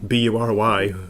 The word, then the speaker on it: Bury: I was born in a very small town near Manchester called Bury, B-U-R-Y, as we pronounce it there, Bury, and grew up nearby Manchester, but this gets complicated again.